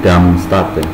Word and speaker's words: Darmstadt: Malik sendiri masih sedikit lagi menyelesaikan S2-nya di Darmstadt. Ya. Bacanya itu Darm apa Darm? Darmstadt. Oke, di Jerman.